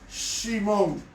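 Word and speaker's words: שמעון: heredad pasamos inmediatamente a simón que se conoce como simeón se pronuncia en hebreo simon cuáles son las características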